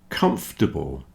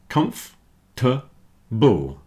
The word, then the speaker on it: comfortable: Comfortable, vegetables, and chocolate have lost their middle syllable, at least for most people. So comfortable, comfortable. You see the OR in the middle isn't sounding. Comfortable.